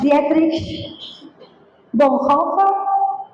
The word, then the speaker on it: Dietrich Bonhoeffer: Hay un hombre alemán, se llama Dietrich Bonhoeffer, así se pronuncia, un teólogo y pastor alemán de la Segunda Guerra Mundial, de la época de la Segunda Guerra Mundial, protestante.